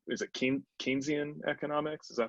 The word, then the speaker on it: Keynesian: And I guess I could see that as being like a potentiality for something like, is it Keynesian economics? Is that how you Yeah. pronounce it? Yep. Keynesian, yeah, Yep.